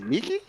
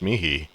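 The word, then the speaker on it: mihi: I remember where like the H in it is pronounced as a K. Really? Yeah. Like there's a word MI. I specifically remember this. And called it Miki. It was Mickey or something. No, that in uh Latin class that's pronounced mihei.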